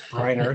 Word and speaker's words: Breiner: I think I could pronounce the last name properly. It's Breiner.